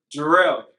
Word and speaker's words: Gerell: Gerell. So Gerell's how you pronounce it, and Superman, son of Gerell.